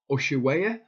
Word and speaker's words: Ushuaia: This is from the Nevada County Scooper that's saying that it's based in, you pronounce it, Ushuaia, Argentina.